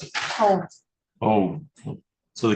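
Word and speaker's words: Hove: How do you pronounce it? Hope.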